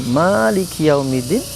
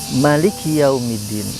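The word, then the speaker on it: مالك يوم الدين: Ayat yang selanjutnya, Maliki Yaumiddin, ada yang membacanya Maliki Yaumiddin, ada yang membacanya Maliki Yaumiddin. Kedua maknanya memiliki penafsiran yang kuat dan sama hebatnya.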